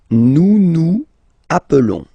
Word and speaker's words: nous nous appelons: Nous nous appelons. Okay, so I will make the liaison.